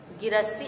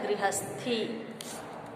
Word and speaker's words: गृहस्थी: गिरस्ती, गिरस्ती अगला शब्द दिया गया है। अब ये गिरस्ती शब्द का शुद्ध रूप होता है गृहस्थी। गृहस्थी इसको बोलेंगे।